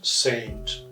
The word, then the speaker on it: St.: utter doctor we write s t but we pronounce saint so what will you do very simple answer